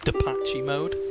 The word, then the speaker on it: Depeche Mode: Cash mode, I believe it's pronounced Depache mode.